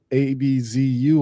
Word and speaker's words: Abzu: The Abzu, that's the biggest clue that we have is the Abzu. Abz Zu or AB a ab a zu or su. It doesn't matter. It's spelled different ways.